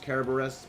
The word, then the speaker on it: Kerberos: And yes, it's actually pronounced Kerberos because they didn't have that sound in Grace.